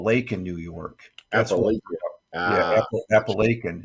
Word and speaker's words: Appalachian: it they called it appellation it's actually Apple Lake in New York yeah Appalachian it's not appellation but you can you look at it that's that's how they pronounce it but it's Appalachian uh the school bus